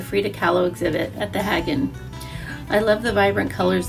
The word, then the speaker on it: Haggin: hagen museum and uh remember hagen like wagon that's how i remember